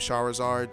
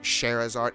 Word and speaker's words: Scheherazade: of a woman named Charizard, so it's like when I see her name, I think that, but her name is Scheherazade. It's spelled exactly the same, except where the ER is, it's an AR.